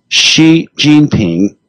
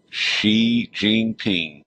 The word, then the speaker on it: Xi Jinping: I mean, and you lost me when you were describing the president of China, and pronounce his name one more time for me. Xi Jinping. Xi Jinping.